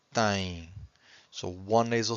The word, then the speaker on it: têm: And every time you have a syllable that ends with a vowel M or vowel N, you have a nasal sound.